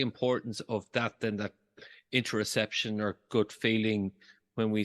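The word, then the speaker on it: interoception: whole notion of interception is that did I pronounce that correctly interception yes yeah it's a it's a wonky technical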